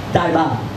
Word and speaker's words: Taipan: Taipan, whose Cantonese pronunciation, by the way, is more accurately rendered Taiban.